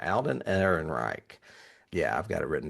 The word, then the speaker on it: Alden Ehrenreich: Alden Ehrenreich. I'm pronouncing that right. Alden Ehrenreich.